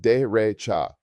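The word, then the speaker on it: derecha: Right is dcha pronounced de recha.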